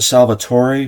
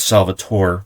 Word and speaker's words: Salvatore: And then you have the first Aria, I pronounce it Salvatore because it's Italian, but other people have said it's Salvatore, so I say Salvatore.